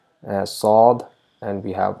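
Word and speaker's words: صاد: Then we have Saad, it is also equivalent to S, but we have a rounded mouth over here, Saad.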